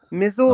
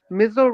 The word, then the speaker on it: Mizzle: Mizzle. Um, Mizle rhymes with Hizzle.